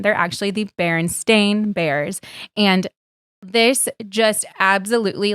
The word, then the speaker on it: Berenstain: as a child and i called them the berenstain bears and spelled with e-i-n but ben is right it is actually a-i-n they're actually the berenstain bears and this just